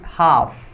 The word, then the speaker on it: half: and Ride hop setengah bukan hal tapi half half bbhf jadi l-nya tidak dibaca nyetelnya tidak dibaca di